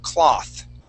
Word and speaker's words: cloth: okay but and if without that e s at the end we use an ah sound cloth cloth okay try that one more